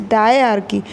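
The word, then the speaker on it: diarchy: Pronunciation please carefully सुनिए, आप लोग रॉन्ग यूज़ कर रहे हो बेटा. इट इज़ डायआर्की.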